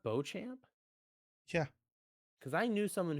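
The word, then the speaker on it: Beauchamp: I know who he is you do it's pronounced Bo champ yeah because I knew someone who had a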